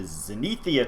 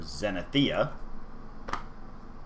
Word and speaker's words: Zenithia: 4, 5, and 6, known as the Zenethia Trilogy, or Zenithia, depending on if you want to pronounce all the vowels in there.